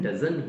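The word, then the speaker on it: doesn't: However, DOSEN''T, इसका pronunciation डजन ही रहता है। डजंट में टी जो है उसको हम कई बार while pronouncing we omit the T sound.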